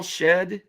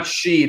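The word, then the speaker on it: Shead: um is it Jamal shed yes what's name yeah Jamal it's not Sheed it's shed yep you said it right the a is silent yeah shed has been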